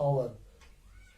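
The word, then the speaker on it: hour: H becomes here silent, ये लिखने में आएगा, ये पढ़ा नहीं जाएगा. इसी तरह आवर, ये हावर नहीं है बल्कि हावर.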